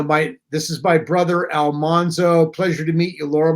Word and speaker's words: Almanzo: Almanzo or Almanzo well correct is the correct pronunciation is Almanzo I think we the sense that I have gotten through the years is that we went with Al alzo because Michael Landon thought it had a warmer